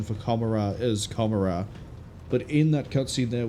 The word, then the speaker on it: Commorragh: pronunciation for Commorragh as Commorragh, but in that cutscene there we heard it as Commorragh, which is supposed to be more in line with sounded like Gomorrah from Sodom and Gomorrah.